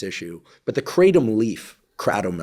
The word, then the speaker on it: kratom: But the kratom leaf, kratom, I think is the way it's the traditional pronunciation, contains a bunch of different plant alkaloids.